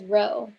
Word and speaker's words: rho: Remember, we pronounced this as rho, where rho is the linear correlation coefficient for a population of paired data.